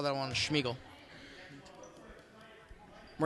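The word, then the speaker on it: Szmigiel: They're going to call that one Schmiegel. We're not making fun of someone's name who's Siegel. It's like actually Schmiegel. It's spelled S-Z-M-I-G-I-E-L.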